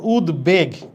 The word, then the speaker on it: উদ্বেগ: আচ্ছা, এখন এইটাতে উচ্চারণ দেখো উদ্বেগ, এখানে ব আছে, শব্দের মাঝখানে বফলা থাকলে তো যার সাথে ঝুলে আছে এটা দ্বিত্ব হওয়ার কথা, কিন্তু এখানে তা হচ্ছে না, এখানে বয়ের উচ্চারণ হচ্ছে।